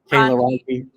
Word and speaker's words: Cayla Ronke: Cayla Ronke.